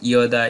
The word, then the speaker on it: যদা: এরপর আমরা আরও আছে যেন না বলে বলবো ইয়েন, যদা যদাহি না বলে বলবো ইয়দা ইয়দাহি। প্রিয় শিক্ষার্থী বন্ধুরা, তাহলে আমরা জানতে পারলাম অন্তস্থ জয়ের সঠিক শুদ্ধ উচ্চারণ।